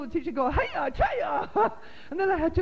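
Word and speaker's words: Chayah: It's actually Chaya. But written in the phonetic spelling, it's C-H-A-Y-A-H, which would, if you were to pronounce it in English, would be Chaya.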